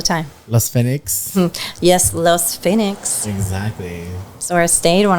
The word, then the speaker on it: Fenix: So that would be Fenix Art Studios, but it's spelled with an F. Fenix. In Spanish, Fenix. Fenix.